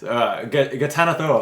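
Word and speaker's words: Ghatanothoa: Uh, I think it's an H is the second letter, not it. Yeah, it's not an N. Gatanathoa, I think is how I say.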